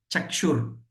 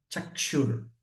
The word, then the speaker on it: Chakshur: Chakshur. There is a small dot under S, right? Chakshur.